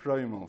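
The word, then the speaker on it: shtreimel: dollars, with a fur strimmel, how do you say it, strimmel, is that right? Strimmel, thank you, can cost thousands, depending on the type of animal skin in its manufacture.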